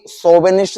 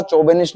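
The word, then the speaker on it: chauvinist: तो वो भी सोबेनिस्ट था, चौबेनिस्ट नहीं था, ये सोफर है, ये कोयर है।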